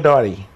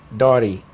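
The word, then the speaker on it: Dartey: Dotty. Dotty. Dot. D-A-R-T-E-Y. Oh, your T, I didn't hear it in your pronunciation.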